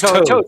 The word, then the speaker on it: Toad: So yeah, It's Toad. yeah. I always get the pronunciation wrong on shit. Everybody but- thinks my name is Todd, which it is not. I've been Toad for a long time.